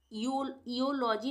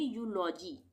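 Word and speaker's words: eulogy: यू इलॉजी नहीं पढ़ेंगे। यहां पे हम इसको पढ़ेंगे यूलॉजी। यूजी। इ यू जब भी आएगा तो उसका उच्चारण यू हो जाएगा।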